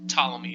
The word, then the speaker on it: Ptolemy: the ancient Greek astronomer his name was Ptolemy is how you say that had come up with